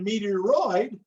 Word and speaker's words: meteoroid: atmosphere and then the meteoroid rhymes with asteroid so as they're floating